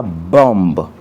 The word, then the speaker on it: bomb: On ne dit pas th alors que ça s'écrit avec B. On ne dit pas bombe, on dit bomb pour dire la bombe.